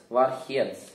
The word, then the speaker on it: Warheads: Warheads. Это не читается вар, это вор. Warheads.